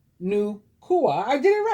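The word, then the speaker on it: Nüwa: At the time of what the Hopi and Shansi people of northern China call the great chaos in the universe, Nukua, pronounced Nukua, I did it right, the dragon-bodied goddess, came to restore order.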